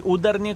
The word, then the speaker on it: Udarniy: Uh, by the way, udi correct stress on the second syllable.